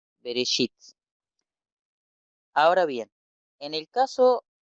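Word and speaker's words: בראשית: Entonces, esta es una E, Aleph es una E, y conjuntamente con resh se pronunciaría re. Entonces tenemos be, re, bereshit.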